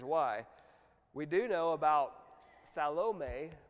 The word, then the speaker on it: Salome: We do know about Salome, bless you, is how you pronounce her name from the Greek terminology.